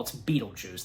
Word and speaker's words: Betelgeuse: Even Adam kind of pronounced it differently. Beetlejuice, maybe, but I think just overall it's Beetlejuice. That's how you say it.